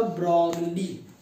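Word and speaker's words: Broglie: ब्रॉगली का उच्चारण होगा ब्रॉगली।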